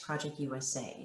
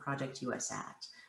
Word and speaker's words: Project US@: possible the approach that we're taking oh it's pronounced project usa not project u.s act i know there's a little bit of confusion